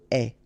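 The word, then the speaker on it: aie: Remember, the final E is not pronounced, so you only have this AI sound, est.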